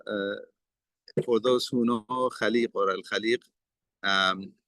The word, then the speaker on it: Khaliq: for those who know Khalib or Alib um the some people they say alik um and obviously that is an incorrect pronunciation.